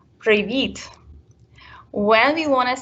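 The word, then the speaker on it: привіт: we say hi hello we will say previet so it's a very soft sound in the end of the word previet when we want to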